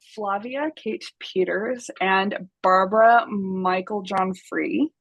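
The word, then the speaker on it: Meiklejohn: yeah, so the authors are Flavia Kate Peters and Barbara Michael John Free. I really hope I pronounced Michael John, but I'm pretty sure I got it right. It's spelled Um, Meikle John. So, Dash free.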